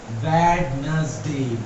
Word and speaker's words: Wednesday: वेडनेसडे।